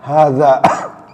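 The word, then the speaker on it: هٰذَا: Misalnya hadza walaupun ditulisnya h-nya itu pendek, tapi bacanya panjang ya. Hadza, h-nya panjang, d-nya panjang.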